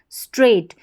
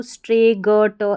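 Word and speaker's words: straight: अब यहाँ पर अगर आपको कोड नहीं पता होगा तो स्ट्रे, ग, ट, इस तरीके से आप प्रोनाउंस करेंगे जो गलत होगा।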